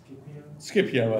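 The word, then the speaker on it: Scipio: uh a world train standing army and uh skipio skipio I think yeah skipio oh thought it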